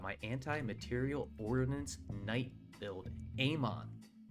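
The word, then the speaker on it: AMOK: Ammon, the K is silent.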